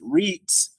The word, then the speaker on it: REIT: most real estate investment trusts or Reit pronounced REITs which are special tax